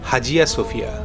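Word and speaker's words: Hagia Sophia: পৃথিবীর ইতিহাস পরিবর্তন হতে সেই আইয়া সোফিয়া। স্থানীয় তুর্কি ভাষায় এটাই সঠিক উচ্চারণ যার অর্থ ঐশ্বরিক জ্ঞান। তবে ইংরেজিতে অনেকেই বলে থাকেন হাজিয়া সোফিয়া।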